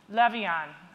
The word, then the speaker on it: Levien: I'm going to introduce Meredith Levan rhymes with my client Evan right very thrilled she